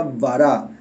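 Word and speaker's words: ברא: me traicione la memoria en el hebreo se pronuncia bará esto habla de que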